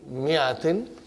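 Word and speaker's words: مائةٍ: This is mi'atin. You better put a kasra here, otherwise it's confusing, brother. In the mi'a, alif is not pronounced.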